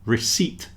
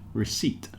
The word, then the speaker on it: receipt: The second one, receipt, with a silent P in it, receipt.